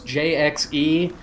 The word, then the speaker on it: JXE: how do you pronounce jxe just like that just the letters those are initials uh maybe won't stay